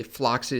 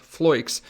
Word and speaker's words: Floix: But this cryptocurrency, Floix, and for some reason I keep on wanting to say Floxy, so in case I say that later in the video, I apologize for that. It's pronounced Floix, which is sponsoring this video.